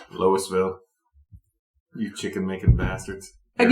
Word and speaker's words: Louisville: a solid Louisville and pronounce your name the way you like loisville you chicken making bastards